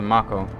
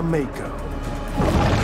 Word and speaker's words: mako: um oh just a marco anybody okay the mako oh mako i've been pronouncing it wrong this entire time what level is this